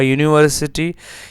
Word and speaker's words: university: A unit, a university. Here U has the consonant sound of Y.